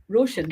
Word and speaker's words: Róisín: Róisín? Róisín. Róisín, yeah. There's a few different ways to say it, isn't there? Um There is. Um Yeah, if for anybody who's watching, Róisín is coming to uh Corryvreckan Festival.